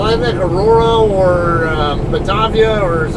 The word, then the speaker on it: Batavia: or uh batavia or some people will call it batavia i call it batavia though because it looks like a german or italian or whatever kind of word and that's how those vowels are pronounced in those in that language those languages but uh um i remember